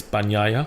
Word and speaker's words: Bagnaia: And Bagnaia, which is how you actually pronounce his name properly, not like the English commentators, Bagnaia. The G in the end in Italian is Nya. Yeah. So it's Bagnaia.